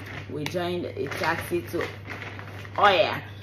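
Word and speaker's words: Oia: We joined a taxi to Oya, right? It's spelled Ohia, right?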